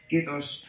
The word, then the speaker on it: kiitos: We're just sitting here but it's saying apparently KIITOS it's the whole Finnish time.